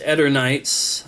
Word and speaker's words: Eternights: This is Eternights. I think that's the correct way to pronounce it. Some people want to say Eternights, but I'm pretty sure officially it has been pronounced Eternights.